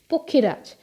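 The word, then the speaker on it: পক্ষীরাজ: they were pakshi rajes pokhiraj that is the bengali pronunciation pakshiras is the kind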